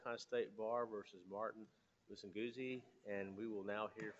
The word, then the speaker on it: Musinguzi: Did I say the name right? Yes, Your Honor. It's Martin Musinguzi. Okay, good.